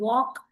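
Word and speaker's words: walk: pronounced here also so the word ವಾಕ್ ಕಂಟನ್ಸ್ಎಲ್ which is silent we ಡು not pronouns L here okay so ಯಾವ word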